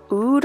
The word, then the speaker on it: Oud: And then I pulled out the Huda Beauty Desert Dusk palette, and I'm using this shade called Oud, I think is how you pronounce it.